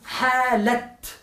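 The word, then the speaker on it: حالة: Hay que decir kaifa. No hala, sino halat.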